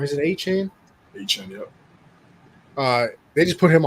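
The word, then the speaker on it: Achane: And the big thing coming out of this game is I always say his name wrong. Is it A-Chain? A-Chain, yep.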